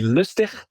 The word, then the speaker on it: Lustig: And with us, we have Lustig. Is that correct? That's good enough. Yeah. In Dutch, it would be Lustig, but that's a bit difficult to pronounce for non-Dutch speakers.